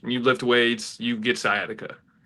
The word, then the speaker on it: sciatica: How do you pronounce this? Have any of you guys seen this? The Scottia injury. Sciatica.